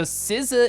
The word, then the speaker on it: SZA: So SZA is how it's pronounced, and she rules.